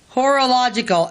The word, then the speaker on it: horological: Indiana and entered Parsons horological School Ty horological h-o-r-o-l-o-g-i-c-a-l School yeah horological I thought you were mispronouncing that it's like but you're not that's how it spells but I'm like what